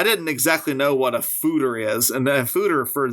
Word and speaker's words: Foeder: This is an Embrace the Funk, Fooder Fruits, Passion Fruit, and Pineapple Sour Ale.